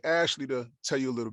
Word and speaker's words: Ashleigh: and my fantastic co-panelist my name is ashley as been said for anyone documenting this my first name is spelled ash leigh i once was described